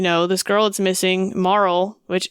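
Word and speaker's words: Marle: this girl that's missing Marl which that's how I pronounce her name I think people pronounce it a little differently but that's what it seems like to me that's how we're going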